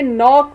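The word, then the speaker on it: knock: तो नॉक जो है वो एन से शुरू हो रहा है लेकिन लिखने में पहले के भी आता है, तो इसमें जो साइलेंट लेटर है वो है के।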